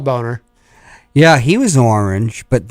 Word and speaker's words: Boehner: ding ding banner boner boehner john boehner well it's spelled boner yeah he was orange